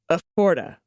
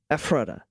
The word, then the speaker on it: Ephrata: Is pronounced like Ephrata, phonetically. Emphasize on the front. Ephrata.